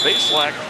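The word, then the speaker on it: Bazelak: Base lack. That's how he likes it pronounced. He said they mispronounced him for for years in college. Adding an extra syllable.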